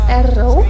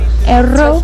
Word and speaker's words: Erro: Wait, how do you pronounce his name again? It is Erro. Erro.